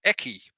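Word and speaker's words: Ekki: And she'd messaged me before Harrogate saying that she had a couple of bits of Eki, which is spelled E-K-K-I.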